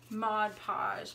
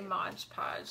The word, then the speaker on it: Mod Podge: something which I think I always used to say modge podge and then Cody pointed out that I was saying it wrong you know every time